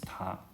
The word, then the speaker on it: 他: So it's ta, right? So before, maybe 100 years ago, there only one ta. It's this one, and it refers to all third person pronoun. She, he, it, her, him, it. But later they created two others. So the first one is for she and her, and then it for it. So they both pronounce, all of these pronouns were pronounced ta.